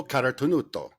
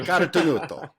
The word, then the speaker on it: Carotenuto: Today, we've got Angelo Carotenuto, founder and owner and co-owner of LivTours. Angelo, did I say it right? Yeah, you actually did, Jason. Yes, thank you. Carotenuto.